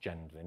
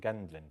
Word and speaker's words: Gendlin: So the philosopher and psychotherapist Eugene Gendlin, I think it's pronounced Gendlin, even though I kept calling him Gendlin for many years.